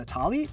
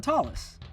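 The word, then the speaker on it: tallit: Is it a talit or a talis?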